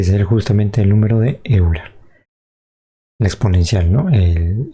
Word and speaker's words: Euler: Euler, que se pronuncia Euler, ¿no? El número de Euler o Euler, como quieran.